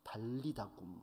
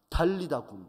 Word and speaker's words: 달리다굼: 달리다는 소녀라는 뜻이고요, 굼, 정확히 이제 쿰인데요, 쿰은 일어나라 이런 말입니다.